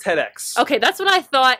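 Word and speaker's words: TEDx: or Ted X Grand View Avenue believe it's tedex okay that's what I thought and I didn't want to mispronounce it but I've always heard it as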